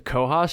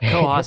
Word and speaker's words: Cohos: Yeah, a lot of people get confused with that, because it looks like it's like whatever the northern county in New Hampshire is, I think it's spelled C-O-O-S.